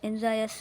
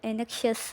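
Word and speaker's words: anxious: एंजायस जो वर्ड है ये फर्स्ट वाला, ये बेसिकली एंजायस से बहुत से लोग इसको एनेक्शियस वगैरह वगैरह बोलते हैं।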